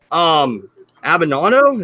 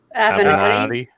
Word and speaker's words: Avenatti: Avenado, is that how you say it? Avenatti.